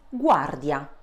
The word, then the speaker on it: guardia: G followed by vowels A, O, U turns into a hard consonant. So ga, go, gu. Repeat after me. Ga, go, gu. An example is guardia.